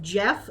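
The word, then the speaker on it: Gef: the and Jeff is spelled g f yes a g EF so if anyone wants to look it up that's yeah that's how you spell it um I read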